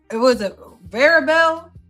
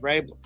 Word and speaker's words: Vrabel: Let's talk about Varabel caught allegedly cheating. Is that how you say it? Vrabel. Yeah.